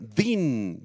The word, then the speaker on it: din: justos la palabra justicia Din d i n con acento en la i Din se refiere a un